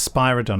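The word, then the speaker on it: Spiridon: yeah you know that it's actually pronounced Spira Don as in spider and he made a note on his script that's good there we yeah and then she said spyridon and they didn't care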